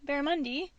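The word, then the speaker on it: barramundi: alternate pronunciation I guess it ends in I so I say I if it ended in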